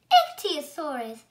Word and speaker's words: Ichthyosaurus: I'm going to tell you how to pronounce it. Ichthyosaurus. Ichthyosaurus.